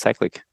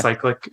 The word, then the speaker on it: Cyclic: Um so you're using I would say the European pronunciation. I would call it cyclic. Uh cyclic is fine as well. if you're in a if you're in more American side, you know, this side of the Atlantic.